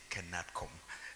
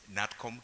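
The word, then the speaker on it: KNATCOM: Many people say CANATCOM. I know, Kandiye, sorry for that. It is NATCOM, K is silent.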